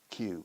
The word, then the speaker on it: queue: I remember the first time in my life I saw the word queue. I never heard it, Q.